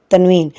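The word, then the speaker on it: تنوين: they are called tanmeen tanween anthony it sounds n at the end and like for example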